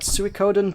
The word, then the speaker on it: Suikoden: how do I pronounce that? Suikoden 2?